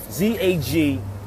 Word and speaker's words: Zagwe: Zagwe. I'm going to spell it again for y'all.